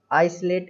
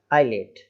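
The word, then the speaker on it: islet: आइसलेट, है ना, आइसलेट, तो आइसलेट इस तरीके से नहीं बोलना है, आइलेट, है ना, आइलेट, ऐसा, आइलेट टापू, आइलेट।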